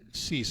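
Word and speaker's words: Ceyx: So we talk about Cease. I want to talk about Cease a little bit, the band. And by the way, folks, it's spelled C-E-Y-X.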